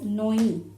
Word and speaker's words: ঞ: So when this letter appears individually, when it doesn't take any vowel sign with it, how do we pronounce it? We pronounce it as noi.